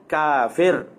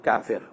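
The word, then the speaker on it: كافر: kita baca maiki yaumiddin maka begitulah juga kafara itu ditulis Tapi bacanya kafir baca ya Apa bacanya adalah adalah kafir as Syeikh Abdul Haq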